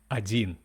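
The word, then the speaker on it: один: number and its pronunciation one in Russian will be adin sounds similar to odd in.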